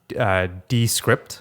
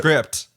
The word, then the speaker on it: Descript: So it's an app called, I think you pronounce it Descript. So basically, script, but D in front of it.